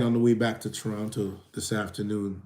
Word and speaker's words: Toronto: So when I got on my flight on the way back to Toronto this afternoon, you say Toronto. You pronounce every syllable.